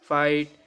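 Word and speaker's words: fight: जी एच पलाव तो यहां पे जी एस साइलेंट है एफ आई जी एच टी फाइट एफ ओ यू जी एच टी फाउट okay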